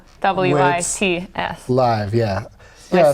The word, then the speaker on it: Hladkowicz: spelled phonetically. Ladkowicz.